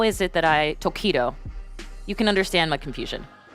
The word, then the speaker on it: Tokido: One of the highlights was the rivalry between Tokido, which was hard to pronounce for Kate back in week 1. It was, because I thought it was taquito, which I think are delicious.